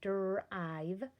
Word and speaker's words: drive: Okay, notice that there's an E on the back. It's going to help the I make the long I sound. Drive, drive.